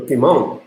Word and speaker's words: piment: Le piment, piment is like hot chili or something. So le piment, and you don't pronounce this one. So in French, so le piment.